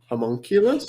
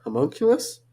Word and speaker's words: Homunculus: I watched a Takashi Shimizu film called Homunculus.